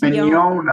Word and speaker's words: Mignogna: See, the middle part's the important part. It's Mignogna. Okay. Yeah, like you own something. Not like you're yawning.